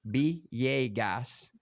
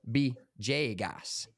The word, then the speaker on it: Villegas: here's the pronunciation guide in Spanish vagus is pronounced beas or B Jas the official language in